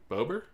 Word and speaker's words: Bober: I have on the show all the time and your name is literally his name with a B on it.